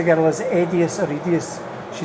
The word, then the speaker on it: EDIUS: And I did actually say to the girl, is it EDIUS or EDIUS?